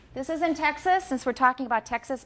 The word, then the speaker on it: Texas: taxis ok dojo Texas what foul do I have in the second syllable of Texas it's a schwa definitely a schwa and this is a